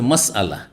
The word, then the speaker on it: মাসআলা: ওর শুদ্ধ উচ্চারণ হচ্ছে মাসআলা।